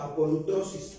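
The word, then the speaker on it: ἀπολύτρωσις: Redención en el griego se describe apolutrosis, así se pronuncia, apolutrosis, redención.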